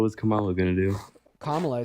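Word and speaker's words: Kamala: I don't understand what's Camala going to do. What was Camala going to do? Kamla is how you pronounce her name.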